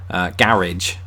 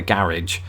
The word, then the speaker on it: garage: the British say it garage and then apart the car in the garage Americans do what southerners in England do with the word bath laughs they extend the a garage it's a mouthful